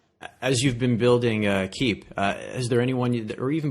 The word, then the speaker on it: Kiip: the gaming space but most people just pronounce it as Kip and then I tell them it's keep and then they'll remember